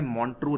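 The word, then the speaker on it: Montreux: record का नाम है मौन टू रिकॉर्ड ठीक है यह डोंट रूक उस जो पुराणों से जाता है इसमें यू एक साइलेंट है तो मौन टू रिकॉर्ड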